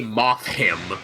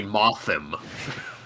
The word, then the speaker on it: Mothim: You don't say moth him, you say mothim.